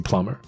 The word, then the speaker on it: plumber: 结束就这样，OK，其实很好笑。好，要是你有看懂有听懂，那恭喜你；没听懂，来我们解释一下。那这边有一个 had 当开头。那其实它就是 I had an emergency plumber come to fix my leaking shower。